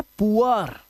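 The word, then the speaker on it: poor: Double O के बाद आर अगर आएगा तो डबल ओ का जो उच्चारण है वो उआ करना है आपको। क्या करना है? उआ। याद रखना। अब देखो यहां पर यह है पुअर। यह है पुअर। अब इसे या बोर मत पढ़ लेना।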